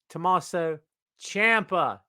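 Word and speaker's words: Tommaso Ciampa: it's clever tommaso champa say with me kids tommaso champa is the way he pronounced the man's name defeated braun breaker by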